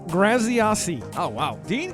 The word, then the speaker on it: Graziosi: pronouncing his last name it's not that wasn't right Andrew that was that was very butchered you didn't pay good attention in speech class it was Dean grasi oh wow Dean grasi grasi if you say